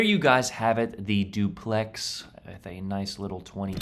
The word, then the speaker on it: Duplex: uh for this ship I thought it was dupl but actually it is duplex like the housing structure here in America but yeah I I